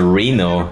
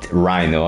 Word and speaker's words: Rhino: Rhino, and I was saying Reno, and once I said Dino. Rhino, okay, now I know the right way to pronounce this name, Rhino.